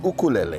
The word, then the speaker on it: ukulele: Yeah, it's ukulele. That's how Ukulele. we pronounce it in Hawaii.